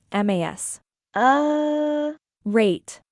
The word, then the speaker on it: macerate: The pronunciation is mas. Rate.